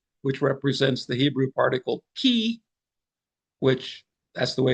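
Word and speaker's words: כִּי: represents the Hebrew particle key, which that's the way it's pronounced, key, uh, which sounds like it's a key thought.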